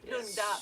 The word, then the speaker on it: Lund: Lund is the city, but they add this A in between when it's easier to pronounce. Lunda.